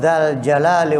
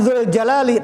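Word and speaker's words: ذَا الْجَلَالِ: Bukan dzul jalali pakai dza. Itu di dalam nahwu namanya asmaul khamsah. Dzu itu ismun min asmail khamsah. Abuka, akhuka, hamuka, dzu ilmin. Ja'a dzu ilmin, datang orang yang memiliki ilmu. Ra'aitu, saya melihat. Ra'aitu dza ilmin, bukan dzu lagi, dza dibacanya. Mansub, maf'ul bih, harakatnya mansub fathah. Ra'aitu dza ilmin, ja'a dzu ilmin. Astaghfirullah, kita memohon ampun kepada Allah, mansub. Jadi lafzul jalalah mansub dza.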